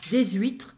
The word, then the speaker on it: des huîtres: Dans le plateau classique, vous avez seulement des coquillages, des huîtres, so there is a small liaison here, des huîtres, des moules.